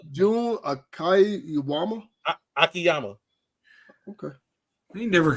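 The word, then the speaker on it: Jun Akiyama: Juan Akiyama. June. Oh, what do you say, Juan, sir? I don't know. I thought maybe it was just pronounced different. No, June Akiyama.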